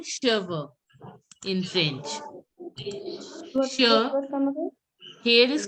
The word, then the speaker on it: cheveux: And Here is called cheveux in French. Here is called cheveux. Cheveux. Cheveux. Cheveux. CH is pronounced as sh. So cheveux.